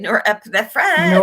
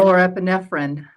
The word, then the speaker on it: norepinephrine: I can always not pronounce that very good. You and me Yeah. both. How do you say it? Norepinephrine. Norepinephrine.